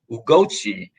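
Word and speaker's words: Gucci: So I'm not going to Ugochi is the that's how you pronounce the fashion brand.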